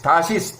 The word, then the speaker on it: 다시스: 야세기 7장 7장 창세기는 10장 4절 그냥 이념 야반 야반은 마케도니아 그리스의 아들들은 엘리시아 그다음에 따시스 따시스 다시스 또는 다시스 여기는 다시스라고 읽어 보자고요. 구약에 다시스라고 나오니까 구약에 요나가 도망갈 때 다시로 가는 배를 탔으니까 스페인이에요.